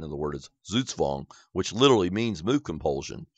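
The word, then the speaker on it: Zugzwang: A lot of people say zugwang, but that's actually incorrect. The the word is German in origination. And the correct pronunciation of the word is zutzvong, which literally means move compulsion.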